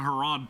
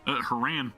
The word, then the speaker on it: Haran: Haran, be ready to protect me and if this thing acts up. Why do I keep pronouncing Harod? Haran.